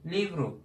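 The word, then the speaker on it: livro: Livru. Kitap demek. Sonda olunca ne oluyor? U oluyor.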